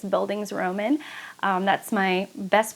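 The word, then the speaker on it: Bildungsroman: um by the way i have pronounced this word many different times and i think it's buildings roman that's my best pronunciation i used to call it a bill dungus roman or a belgianous roman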